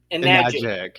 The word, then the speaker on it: Enagic: the amazing technologies around enaga. I'm gonna have to You're gonna have to say that word for me. It's like rhymes with rhymes with magic. and nagic enag.